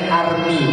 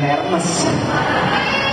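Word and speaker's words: Hermès: Bacanya Army, bukan Hermes. Army itu bahasa. Loh kok bahasanya tulisannya Hermes banyak? Ya itulah bahasa Perancis itu bahasa yang munafik. Tulisan sama bacanya beda.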